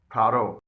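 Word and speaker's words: thorough: बॉट, यहां पर भी जी एच से पहले यू आया है और जी एच साइलेंट है। बॉट के मायने हैं खरीदा हुआ। थारो, यहां पर भी जी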